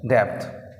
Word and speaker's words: depth: DEPTH, T silent, डेप्थ।